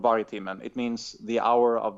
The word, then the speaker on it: Vargtimmen: It's not very easy to spell if you're not Swedish, but I can spell it out for you. So you Please can just do, yeah. include. Okay, it's VARG TIMMEN.